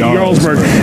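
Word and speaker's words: Jarlsberg: they're amazingg National Champion J but you spell you pronounce it yurg a nice mild nutty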